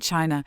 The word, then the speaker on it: qi: Thousands of miles away in ancient China, physicians and philosophers came to believe that every living thing was animated by an invisible force known asqi.